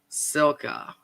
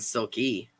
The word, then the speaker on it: Silka: So I've been saying your name totally wrong. Silka. I've been saying Silky.